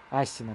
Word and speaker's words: Асина: Асина, точнее. Ударение, скорее всего, на последний слог будет.